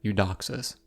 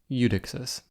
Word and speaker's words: Eudoxus: the star of the show was the astronomer UD doxis or at least that's what I led you to believe but I was mispronouncing his name the entire episode like some